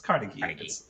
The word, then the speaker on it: Carnegie: played carnegie carnegie carnegie how do you pronounce that carnegie it's carnegie yeah okay like carnegie hall carnegie hall right but i didn't know